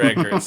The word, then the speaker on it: Eggers: Roger Eggers.